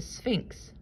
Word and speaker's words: Sphinx: was like a human this was a sphinx which rhymes with inks pinks and weeks the voice said that